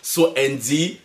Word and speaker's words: So Andy: sinon tapez juste dans la barre de recherche so Andy so s espace Andy comme Andy ça se prononce voilà je suis dans une secte vous